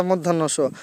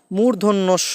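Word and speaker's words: মূর্ধন্য ষ: বলি তালিবস পেট কাটা মধ্যান্যস আসলে কি এগুলোর এই উচ্চারণ হবে না তালিবস হবে না তালব্যস হবে আর পেট কাটা মধ্যান্য পেট মধ্যস্য হবে না মূর্ধন্যস হবে আমরা দন্তান্য বলি দন্তান্য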